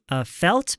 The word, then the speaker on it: felt: like로 이어지기 때문에 T가 사라져요. T가 항상 사라지는 건 아니에요. 다음 단어가 모음일 때는 리을로 넘어가 아니구나. 리을 쌍디귿으로 넘어가는구나. Yeah.